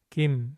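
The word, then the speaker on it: 김: Since M comes at the end, we start with the gi sound and finish by closing the lips and vibrating the vocal cords, just like in English. Kim.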